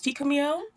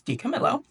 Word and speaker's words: DiCamillo: And yes, I'm pronouncing that correctly. Okay, I thought it was DiCamillo. It's DiCamillo.